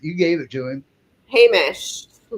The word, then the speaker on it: Hamish: How how do you pronounce that? You gave it to him. Hamish.